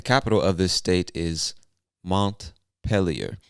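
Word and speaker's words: Montpelier: of this state is montpellier now i believe that's the english-speaking pronunciation of the word but this word looks french to me so you some people from vermont might say montpellier i don't know i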